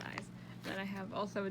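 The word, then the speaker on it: IZ*ONE: and then we have eyes i z which is pronounced eyes then i have also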